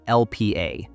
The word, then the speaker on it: Lp(a): The mutation involves a molecule called LPA, pronounced LP(a).